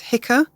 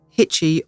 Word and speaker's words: Hicce: The tribal name is spelt Hicce, and I've heard it pronounced variously as Hicka, Hitchy, or simply Hitch.